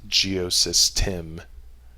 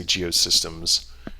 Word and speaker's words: Geosystem: Well, I guess Geosystem. I always say Geosystems because it has all kinds of different modules and things that you can do, but technically there's no S at the end.